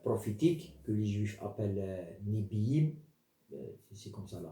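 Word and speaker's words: Nevi'im: Puis il y a les livres prophétiques que les Juifs appellent Nebiim, c'est comme ça la prononciation, qui est divisé en anciens et nouveaux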